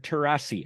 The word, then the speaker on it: Terrasi: I am here with Kevin losani and Richard tarasi I hope I pronounced those correctly okay you got it you